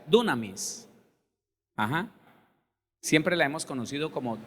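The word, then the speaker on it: δύναμις: Más bien se pronuncia dunamis.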